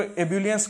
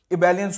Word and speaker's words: ebullience: और इबेलियंस, ठीक है, इसको एब्यूलियंस करके मत बोलो, इबेलियंस होता है इसका, ठीक है, EBULLIENCE।